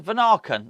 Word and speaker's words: Vanaken: Is it Vanaken? Vanaken. That's how they say it. The commentators say Vanaken.